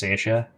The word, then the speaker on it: Saoirse: It's like when you come across Irish names for the first time, and it's like it's written Sourus, but it's pronounced Saoirse.